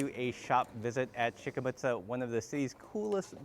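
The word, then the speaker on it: Schicke Mütze: It is Shikamuta.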